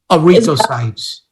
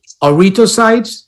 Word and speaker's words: erythrocytes: Yeah, I think it's 214, but I'm having trouble pronouncing it. Is it every? I got it for you. Don't worry about it. Erythrocytes. Yeah. Erythrocytes.